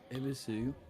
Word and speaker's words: Ebisu: Ebisu. Hang on. Yeah.